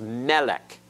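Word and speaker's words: מֶלֶךְ: it off all right the vowless final cough has a schweiment it is silent this is Melech you've heard the Hebrew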